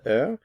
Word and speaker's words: heure: Remember the H is silent. Quelle heure est-il?